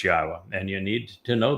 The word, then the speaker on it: Yahweh: U so be aware God's name is pronouncable. It is Yahwa. There is no B sound in the original Hebrew language.